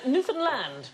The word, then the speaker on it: Newfoundland: to start with what is this island called Newfoundland it isn't the correct pronunciation Newfoundland yeah Newfoundland is the correct pronunciation and in 1876 a